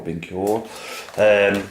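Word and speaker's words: BenQ: I have a Sony, I have a Sanyo, and Binco, I think it's pronounced B-E-N-Q, Binq or Binco.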